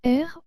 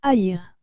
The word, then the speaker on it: haïr: fait le a et le et ensemble se prononce et donc nous dirions air au lieu de deux haïr d'où le pourquoi du tréma sur le riz